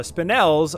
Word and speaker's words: spinel: be done so we're going to sell our spinels i googled this and it is pronounced spinels spinel we're gonna sell pretty much